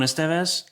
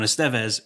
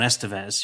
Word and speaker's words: Estevez: initially cuz I was I was saying Ramon Estevez and you were saying Ramon Estevez. You were putting the wrong emphasis on the wrong syllable.